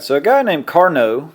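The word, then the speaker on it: Carnot: so a guy named Carno the t is silent uh started studying what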